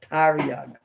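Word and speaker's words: תרי״ג: Yeah, it's pronounced Taryag.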